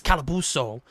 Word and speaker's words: Calabuso: Calabuso Cowabunga because they didn't tell me how to pronounce it until he came in the chat. It's like, it's Calabuso.